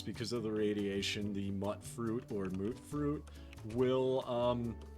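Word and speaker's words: mutfruit: comments did tell me the correct pronunciation is uh actually mut fruit uh because there's no real vow that makes that ooh sound it's mut fruit and I have to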